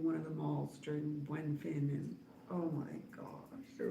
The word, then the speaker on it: Buen Fin: Buen Fin.